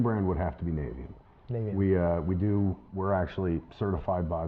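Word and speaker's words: Navien: There's a reason why they named it like that, but it's Navian, and I've always called it Navian.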